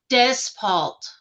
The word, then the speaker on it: Despalt: Despalt. Des, just like it's spelled.